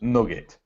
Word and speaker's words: nougat: there you go nugget is how it EXA pronounced nugget is it nugget nugget it